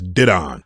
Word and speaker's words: Didon: Actually, I believe it's Didon. I pronounced his name wrong so many times in